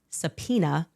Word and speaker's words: Sapina: In 1995, her father, a man named Sapina, spelled phonetically, just as I'm saying it, Sapina Faumuina, was very